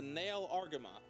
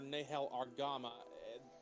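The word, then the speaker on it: Nahel Argama: okay next up is the nail argoma or nehel argama how they pronounce it depends on the dub this thing is a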